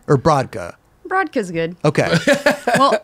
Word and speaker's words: Brodka: Brodka's good. Okay. Well, like in Polish, it's Brodka. Oh, nobody says well, let me say it the right way. Brodka. Wow, you can roll your R's.